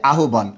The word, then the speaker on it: আহ্বান: একটু খেয়াল করবেন, হয় বফলা যে আছে না, এর উচ্চারণ হচ্ছে দুটো, একটা হচ্ছে ওভ, হয় বফলার আরেকটা উচ্চারণ হচ্ছে উভ। খেয়াল করতে হবে কখন ওভ হবে আর কখন উভ হবে।